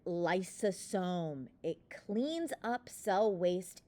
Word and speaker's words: lysosome: It sounds like the word Lysol. Lysol, think lysosome.